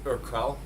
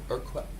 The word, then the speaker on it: Urquell: now what we consider, I'm going to probably pronounce this incorrectly, but it's Urquell, Urquell, Urquell Pilsner from, from the Czech Republic.